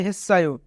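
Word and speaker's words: 했어요: এখানে বাচ্চিমের পরে ইয়ং থাকার কারণে বাচ্চিমটি ইয়ংয়ের স্থানে যাবে, অর্থাৎ সাংসিয়ত ইয়ংয়ের স্থানে যাবে, তাই উচ্চারণ হবে হেসায়ো।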